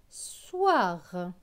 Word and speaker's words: soir: est-ce avec aux ir aux ir se prononce ouah ouah donc s es war soir très bien donc la